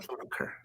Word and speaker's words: Schumacher: Yeah, I pronounce it Schu, right? Schumacher. Schumacher.